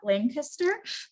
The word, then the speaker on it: Lancaster: I was just corrected of my pronunciation, so I'm working on that, Lancaster, Pennsylvania.